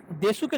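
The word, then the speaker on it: です: তার মানে আমার এটা আলোচনার উদ্দেশ্য হচ্ছে যে আপনি দেশুকে যখন আমি দেশ বলবো তখন আপনি হচ্ছে আশ্চর্য হবেন না যে এটা ডিভয়েসিং রুলস অ্যাপ্লাই হয়েছে। কি হয়েছে, ডিভয়েসিং রুলস। তাহলে দেশুটা দেশ হয়ে গেছে, মাসুটা কি হয়ে গেছে, মাস হয়ে গেছে, আশিটা কি হয়ে গেছে,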